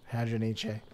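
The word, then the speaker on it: Hadronyche: Yeah, I think you need to pronounce the E. Hadroniche.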